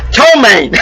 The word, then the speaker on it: Ptomaine: Ptomaine. Oh God, oh, it's crazy. And that is the way it's spelled, with a P.